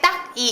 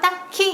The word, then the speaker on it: 딱히: 딱히 같은 거 근데 우리가 봤을 때 딱이 이렇게 발음은 잘 안 하잖아요 딱히 이렇게 발음을 하죠 딱 하다라는 단어를 어원으로